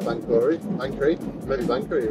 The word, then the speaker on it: Banchory: I talked to a Scottish lady and I said Banchory and then I thought I said it wrong and she said Banchory too. So okay. And she was just humouring me, or that is how we say it.